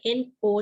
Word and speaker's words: know: you might have heard the word no k n o w no ramadan i know right so the